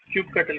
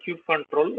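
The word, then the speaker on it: kubectl: if I type a it will run Cube control or cube cutle even if I type Cube cutle it will give the same command I created two L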